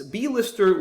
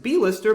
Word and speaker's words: blister: not require a hyphen, as it's not pronounced B-lister, but it is pronounced blister, which is a common word meaning something painful that might develop on your skin.